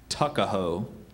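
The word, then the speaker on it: tuckahoe: the Blue Ridge Mountains used as a nickname tuckaho are there any other pronunciations just tuckaho tuckaho t u c k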